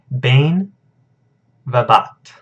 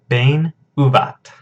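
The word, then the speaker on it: בין ובת: So we have, down here we have bain vabat. Or I'm sorry, bain ubat. I still didn't pronounce it right. Bain ubat. Alright? Because that doesn't have the dagesh there.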